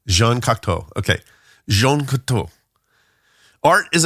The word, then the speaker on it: Cocteau: Jean Cocteau. Jean Cocteau.